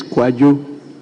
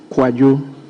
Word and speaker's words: Kwadwo: His Kojo is spelled KWADWO, not KOJO. Thank you, Right Honourable Speaker. So his is Kwajo. Kwajo.